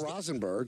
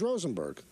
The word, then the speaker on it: Rosenberg: Volpe it's not so Peter is not Rosenberg he's Rosenberg the thing is those